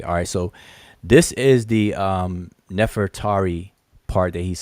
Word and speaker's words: Nefertari: stickler on chief ex this is not nefertiti it's nefatari all right you can see her name in the glyphs ahmos neferet eri is her name but we say we pronounce it as nefertari all right that's not enough for tt it's nefertari neferet eri all right but anyway